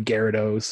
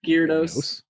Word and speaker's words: Gyarados: And then he evolves into a Gyarados and...